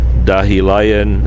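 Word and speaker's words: Dahilayan: dahi Lyon zip line dahi Lyon is spelled da h I la why a n dahi lion a zipline and you'll see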